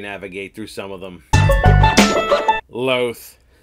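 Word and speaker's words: Lolth: guide helps you navigate through some of them loathe loss officially almost all pronunciations are kin and when it comes to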